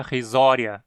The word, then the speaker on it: risoria: marca distinta no pescoço agora em risoria Wii na penúltima sílaba e sim curto justificando a pronúncia risoria e não resolvia rescisórias significar risonha que